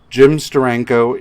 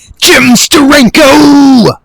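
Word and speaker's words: Steranko: one of the uh jim sturranko issues no no sorry you're saying it wrong you have to say jim sterenko jim sterenko damn right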